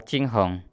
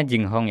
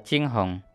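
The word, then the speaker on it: 惊鸿: Lalu di sini ada tulisan yang pengucapannya adalah Qinghong. Kalau di AliExpress ditulisnya Jinghong ya teman-teman ya. Tapi bacanya yang benar adalah Qinghong.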